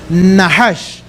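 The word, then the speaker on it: נחש: Pero en el original, la palabra que allí aparece es una palabra que se pronuncia más o menos en el hebreo nahash, que significa ser refulgente o ser de luz.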